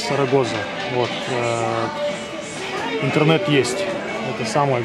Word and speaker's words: Zaragoza: Сарагоза. Сарагоза. У них Зен читается как S. Сарагоза.